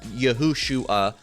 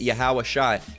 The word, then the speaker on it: Yahawashi: you will get yahawashi all right not H yahushua you will get yahawashi now they got the syllables